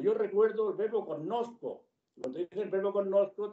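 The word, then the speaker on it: cognosco: Yo recuerdo rosa, o yo recuerdo el verbo connosco. Cuando dicen el verbo connosco, te lo pronuncian con la GN muy explícitamente con el sonido ñ.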